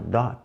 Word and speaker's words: dot: a si próprio, dot, segura o T, dot, não vai falar dot, o T é mudo, vamos dizer, né, dot. Não é que ele é mudo, é que ele é colocado a língua na posição para falar ele e não é falado.